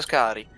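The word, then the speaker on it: Skaarj: Scari. Si pronuncia Scari.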